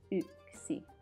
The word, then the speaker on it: yksi: So we have here yksi. You remember that the Y in Finnish is actually pronounced as Ö, as in the German Ö. So this one will be yksi.